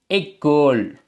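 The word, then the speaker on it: école: இதை எப்படி வாசிக்கிறது வந்தால் ஏ எக்கோள் என்று வாசிக்கணும் எக்கோள் என்ற உச்சரிப்பை பெறும் அடுத்தது பார்த்தீங்க என்றால் மூடப்பட்டது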